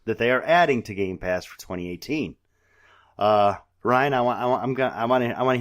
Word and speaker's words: Game Pass: There's no S on it. Game Pass, folks. Say it right. Game Pass for September 2018. Say it loud, say it proud, but get it right.